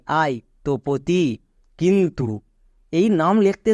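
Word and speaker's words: Tapati: আমরা কি উচ্চারণ করব এখানে এ এর উচ্চারণ করবো না তপতি নেক্সট এবার দেখো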